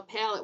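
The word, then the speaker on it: palette: Oh, Patrick says a pallet with a proper spelling. It's not like a pallet like a wooden pallet spelled like that. It's spelled p a l l e t e. Yeah, more French sounding.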